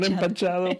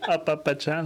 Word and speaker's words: apapachado: Papachado. Not empachado, papachado. Apapachado. Apapachada. There you go.